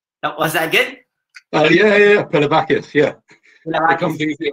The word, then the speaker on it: Pilavakis: Our guest is Pilavakis. It's quite good. Yeah, that's good pronunciation. Was that good? Yeah. Pilavakis, yeah.